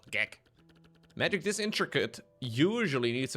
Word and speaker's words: gek: G-E-K? G-E-K in Dutch is pronounced gek.